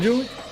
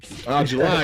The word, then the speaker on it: July: You say what, Julie? I can't respond to you. You have a name wrong.